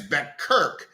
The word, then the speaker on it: Beckert: Some pronounce it as Beckert, B-E-C-K-E-R-T, and Seth Rockman.